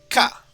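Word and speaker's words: か: You pronounce this ka.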